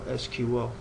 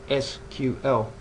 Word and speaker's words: SQL: It starts out by telling us the correct pronunciation for SQL, which is that SQL, as in the acronym Structured Query Language. However, you'll sometimes hear North Americans refer to the language as SQL, and that is for